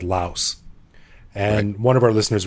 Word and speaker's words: Laos: not in english though in english it's not pronounced lao it's pronounced laos in english that's right and then